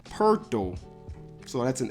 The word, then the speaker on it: Poeltl: It's Poeltl. That's how you would say it in German. Poeltl.